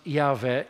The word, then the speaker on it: Yahweh: In Hebrew, it would be pronounced Yahweh, is a play on words of God's sacred name, I Am.